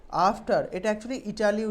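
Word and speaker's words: Italy: Anuradha travel to ইটলি। After এটা একচুি ইটালি উচ্চারণ হয় না। হ্যা এটা ইটালি উচ্চারণ হয় না। এটা হ ইটলি।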